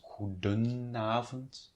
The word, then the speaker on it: goedenavond: Mind, however, that it's goedenavond there. You see there's an N appearing because otherwise it would be goedenavond, and that's not, that's quite difficult to pronounce.